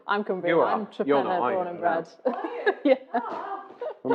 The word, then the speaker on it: Torpenhow: The village that we farm in is called Trepenna to the locals, but it is spelt Torpenhow. Yeah. And no one really knows why it got shortened to Trepenna, but...